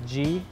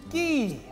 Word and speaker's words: Gee: your Mets pitcher Dylan ghee actually it's pronounced G uh you know kind of like the letter I want to talk